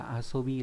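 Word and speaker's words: 遊び: Đây là chữ du, chữ này có âm cư là aso, ví dụ trong từ aso bự là chơi, động từ. Danh từ là asobi, là trò chơi.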